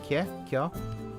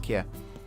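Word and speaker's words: Kjær: Kjaer? I think it's pronounced Kjaer.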